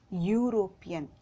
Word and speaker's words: European: let's look here yeah european u ya plus u european okay so here also this is consonant sound so we have put a european we should not put